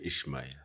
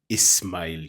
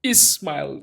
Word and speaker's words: Ismail: Ismail. There's no ish. There is no H, but of course, that's the pronunciation. Yeah, So so Ismail.